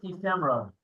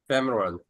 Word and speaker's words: ephemeral: The next word is ephemeral. Femoral. Ephemeral. Femoral. Ephemeral. E की आवाज ये सुन.